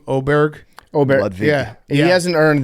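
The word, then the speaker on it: Åberg: Oberg.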